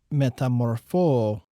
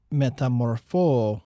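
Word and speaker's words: μεταμορφόω: a los romanos es una palabra griega que se pronuncia así métamorphose métamorphose métamorphose y tiene que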